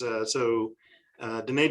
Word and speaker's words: Diné: In our Navajo counterparts, Diné Development Corporation is a wholly owned by the Navajo people, and so I think it's pronounced more Diné, but that gets harder in conversation.